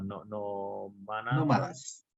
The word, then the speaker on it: nómadas: eran nómadas, o no, ¿cómo se dice? No me acuerdo dónde está el acento. Nómadas. ¿Cómo? Nómadas es correcto.